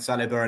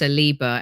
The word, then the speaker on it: Saliba: There was definitely there were definitely problems, and maybe I should just get over it, as I think Saliba and Arteta have, and move on and enjoy a bright future, hopefully together for many years.